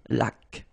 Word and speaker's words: laque: Remember the rule, when you get this QU, well, U is not pronounced, so you get k, like that. Une laque.